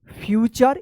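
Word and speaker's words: future: Music use uniform university unit unique union utensil useful user ट्यूब computer फ्यूचर इसको फुटरे मत पढ़िएगा।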